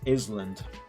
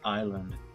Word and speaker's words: island: thought that the word Island wants to be pronounced as Island I mean can you really blame me I